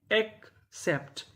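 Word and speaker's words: accept: अकाउंट अकाउंट अकाउंट का मतलब होता है खाता और यहां पे जो ए है वो ए का काम करेगा तो मीनिंग क्या बनी एक्सेप्ट एक्सेप्ट एक्सेप्ट एक्सेप्ट का मतलब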